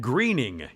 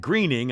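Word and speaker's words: Groening: I like The Simpsons Matt Greening I call it it's Matt it looks like groaning g-r-o-e yeah but yeah and what's the pronunciation guide yeah if you you do it'll tell you the one I read said Greening spelled it g-r-e yeah but I would go either way that's why it's like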